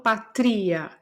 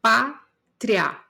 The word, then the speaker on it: pátria: Mesma coisa de pátria. Eu não falo patria, eu falo pátria.